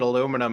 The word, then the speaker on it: aluminium: I think you're still allowed to pronounce it aluminum. It's just the spelling that changes.